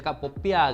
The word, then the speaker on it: Popiah: We say "Popiah", while she says "Poppiah~" There is a "ngiah~" sound at the back.